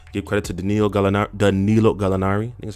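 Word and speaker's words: Gallinari: to trey young give credit to daniel gallantilo galinari that's how you say it absolutely um but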